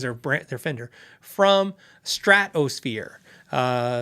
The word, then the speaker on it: Stratosphere: brand they're Fender from Stratosphere uh it's phonetically correct it's s-t-r-a-t Strat and then it's O fear Stratosphere with an s in there just trust me Google